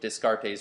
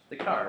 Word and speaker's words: Descartes: of signs but uh I mispronounce his name intentionally all the time I think it's dear actually wait yeah wait you take French how how would you say Descartes the car right wow man you said